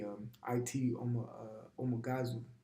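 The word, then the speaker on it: Ité Omáǧažu: According to this Wikipedia, his name is Rain in the Face, and how you pronounce his name correctly, well, in their native tongue, would be It Omagazu, okay, which means rain in the face.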